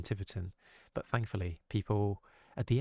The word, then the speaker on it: Tiverton: out it's no yeah i called it um thai written rather than tiverton but thankfully people at